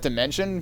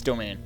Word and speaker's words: Domain: I always want to pronounce that Dimension, but it's Domain.